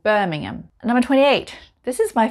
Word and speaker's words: Birmingham: 27 we have a very big city called birmingham birmingham it's birmingham not birmingham like the one in america so it's just called birmingham number 28.